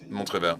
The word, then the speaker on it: Montrével: de Meyer, and just quickly tell me whether I made a really big mistake or is it pronounced Montrével? Yeah, it is pronounced this way.